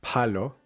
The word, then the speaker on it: palo: Notice the first syllable when you're pronouncing it, the p, th, k sounds. If you notice a burst of air coming out, you are probably saying them with an English or an American accent. Pronounced that way, these words are going to sound like palo, palo, tío, tío, caso, caso. What you want is a more muted sound.